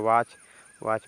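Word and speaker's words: watch: इसके बाद लिखा है यहां पे टी साइलेंट हो जाएगा इसको पढ़ेंगे वाच वाच मींस घड़ी बताइए कितना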